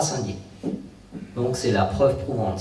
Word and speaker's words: Saint-Dié: Si je vous la montre, c'est que cette fois-ci on ne nous dit pas que c'est Cindy. Je pense que les Américains devaient prononcer Cindy.